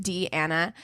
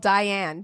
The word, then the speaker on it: Deanna: It's pronounced Deanna. You have no idea how many times I've been called Diane, Deanne, Donna, or something else.